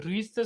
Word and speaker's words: Vries: रुईसचं spelling असं आहे, VRIES असं स्पेलिंग आहे. त्याला रुईस असं म्हटलं जातं.